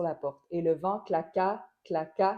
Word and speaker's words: claqua: Si j'ajoute seulement les accents, et le vent claqua sur la porte, et le vent claqua, claqua, la dernière syllabe du mot, et le vent claqua sur la porte.